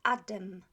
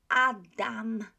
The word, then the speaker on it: Adam: the first word adam a lot of native english speakers pronounce this word as adam adam so it's adam it's not adam the second ah if